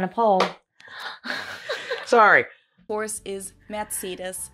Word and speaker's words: Mercedes: countries is it okay how do you say Mercedes let's find out we pronounced matus so Mercedes versus matus I can't say so